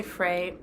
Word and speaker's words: Frey: male character named frey i'm going to say fray i don't think it's fry like grin clinton fry it's spelled that way f-r-e-y so i know it can be said either way i'm gonna go with frey just gonna pick one